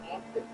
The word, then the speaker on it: often: The T is silent, so it's really often.